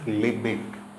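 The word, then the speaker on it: Lebesgue: integration named after the mathematician Henry liik it's pronounced liit okay although you have S and U here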